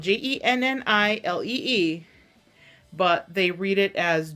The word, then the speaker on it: Jennilee: It's Jennilee. It's spelled Jennilee.